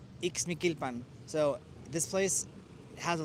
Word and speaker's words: Ixmiquilpan: So the way you pronounce this town that we're in is Ixmiquilpan. Ixmiquilpan. Ixmiquilpan.